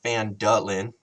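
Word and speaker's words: Phandalin: nearby human town of fan Dylan pronounced van Dahlen prospered as well but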